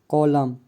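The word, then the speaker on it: column: N silent, M के बाद आया हुआ एन प्रायः साइलेंट होता है, जैसे कॉलम, कंडेम, डैम, सोलम, इन सभी वर्ड में एन साइलेंट है।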